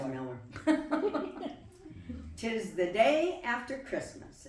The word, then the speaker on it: Miller: One thing you might be wondering is we grew up pronouncing our last name Miller, and we would be in big trouble with our grandmother Miller if we called it Mueller. So that's why Jody says Miller.